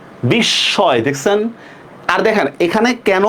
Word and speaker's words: বিস্ময়: শব্দের মাঝে মফলা যুক্ত হলে দ্বিত্ব হয়, দেখছেন? বিস্ময়, দেখছেন?